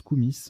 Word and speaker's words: koumis: Koumi avec un I, alors pardon, ça se prononce Koumis, K-O-U-M-I-S, Koumis avec un I ou un Y, lait fermenté de jument en Asie centrale.